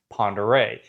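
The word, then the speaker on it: Pend Oreille: The lake, the big lake on on Sandpoint is also pronounced Pere, even though it does not look like that whatsoever.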